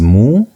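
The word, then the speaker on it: mu: The first one is moo. Moo has a sound as m the English m as in the word mother.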